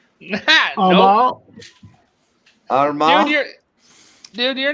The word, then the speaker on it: Armagh: No, I want you to pronounce them and I'll correct you. Honestly, I can barely even read them. Antrim, Armagh, No. Armagh, Dude, you're not involved in this.